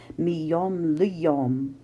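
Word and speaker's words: מיום ליום: So the text is miyom liyom, and if you know Hebrew, you know that this little word here is not the accented syllable. The accented syllable really is yom, miyom liyom. And so if we were to speak this, bahashruhu miyom liyom, the accent, or the agogic accent, really is here.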